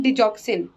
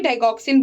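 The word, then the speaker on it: डिगॉक्सिन: Digitalis therapy, जिसको हम बोलते हैं डिजॉक्सिन। ठीक है, डिजॉक्सिन बोलते हैं, कोई डाइगॉक्सिन बोलता है, बहुत कुछ सब अपना अपना प्रोनाउंस करते हैं, तो यहाँ पे हम बोलते हैं डिजिटालिस थेरेपी।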